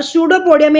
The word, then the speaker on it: pseudopodium: इसको पी जो होता है बेटा, पी इज द, इसमें साइलेंट होता पी, सूडोपोडिया नहीं पढ़ेंगे इसको, सूडोपोडियम या सूडोपोडिया रीड करते हैं, पी साइलेंट होता है इसके अंदर।